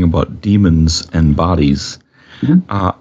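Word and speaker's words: daemon: the Greek sense the d-a-e-n-e-m-o-n which is just pronounced demon a lot of people like to say Damon or whatever but it just it's just demon as well um and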